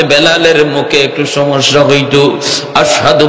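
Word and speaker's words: أشهد: আশহাদু বলতে পারতেন না। বলতেন আসহাদু। সিন উচ্চারণ করতে পারতেন না।শিনটা ভালো করে উচ্চারণ হতো না।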